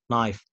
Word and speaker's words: knife: كلمات تلاقيها كي ان في البداية لا ما تنطقش حرف الكي خالص زي knee knife knock not no okay طيب بالنسبه لحرف ال